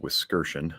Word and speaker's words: Wiskerchen: For anybody who's curious, the last name is pronounced Wiskerchen.